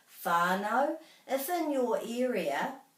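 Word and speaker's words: whānau: good at doing that it's much more commonly pronounced as fi so you can be very comfortable saying whanau if in your area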